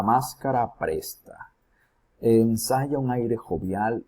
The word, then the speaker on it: jovial: Vamos a ver con jovial, jovial. ¿Ok? Aquí, ¿dónde está la mayor pronunciación? En la última sílaba, jovial.